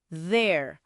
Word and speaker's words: there: There. O TH que é vozeado, vibra um pouquinho.